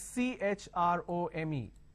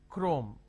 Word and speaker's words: Chrome: Now here, this is chrome. Can I say Chrome, like Google Chrome? No. The pronunciation is Google Chrome.